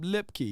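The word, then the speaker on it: Lupke: uh Sam Jordan said lipkey yeah I guess the U is silent so lipkey we just called him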